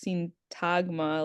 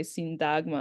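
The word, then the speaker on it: Syntagma: which in English it's sintagma like a t but they would say sintagma and I'm like okay so the t is pronounced as a d.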